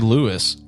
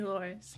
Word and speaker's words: Louris: was meant to be and Gary Lewis G no was it Gary L how do you just pronounce his name Gary Loris Gary lorris